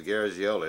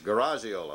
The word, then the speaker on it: Garagiola: I thought it was Garagiola. It's Garagiola, like a garage door, huh?